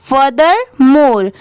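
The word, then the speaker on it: furthermore: Next है फर्दर मोर, इसे पढ़ते हैं फर्दर मोर। यहाँ पर FUR, फर हो गया। THER, इसे थर नहीं प्रोनाउंस करेंगे, इसे क्या पढ़ेंगे? दर।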